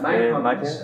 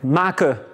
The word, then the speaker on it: maken: Maken, downloaden. Yeah, so we don't pronounce the N.